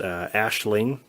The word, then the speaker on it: Aisling: The main actress here, it's pronounced Aisling Knight.